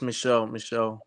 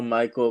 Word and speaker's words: Michelle: Yeah, it's Michelle. A lot of people say Michael, but it's Michelle, yeah.